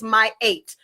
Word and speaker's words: Mayat: And the correct pronunciation is Mayat for those who do not know.